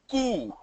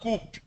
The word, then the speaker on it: coup: The next word, C-O-U-P, is pronounced as coo. K-O-O, coo, that's all. It's not coop. Okay, see my pronunciation, watch my lips, it's coo, it's not coop. It's not coop, it's coup.